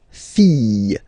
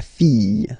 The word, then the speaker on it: fille: form, the daughter, la fille, yeah, okay, so this L here and E will give you the sound Y, la fille, okay?